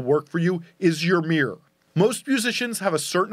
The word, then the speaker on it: MEER: There's this concept I call the MEER, and that's not my New York accent saying mirror.